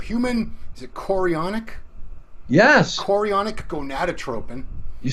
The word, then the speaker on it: chorionic: Thomas made an awesome video about HCG watch me mispronounces which stands for human is it chorionic yes chorionic gonadotropin you said it okay so all of